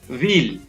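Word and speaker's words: wheel: Next है व्हील, यहाँ पर भी H है वो साइलेंट रहेगा। नेक्स्ट है वीज, यहाँ पर भी H है वो साइलेंट रहता है।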